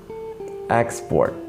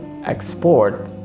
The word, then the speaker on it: export: Export, the practice of business, of selling goods, for example. But export means to sell goods to another place or another country.